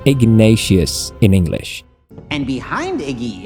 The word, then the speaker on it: Ignatius: Ignatius, pronounced Ignatius in English.